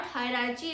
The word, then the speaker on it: hierarchy: Pro tip, high starts like high.